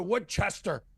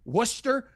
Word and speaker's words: Worcester: But now it's like walking around, a tourist comes up, "Hey, how do I get to Woodchester?" I said, "You mean Worcester, you idiot?"